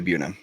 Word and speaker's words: Buena: correct for colorado the buena vista burrito bandit it's well in colorado you say buna i know that's not right but that's what it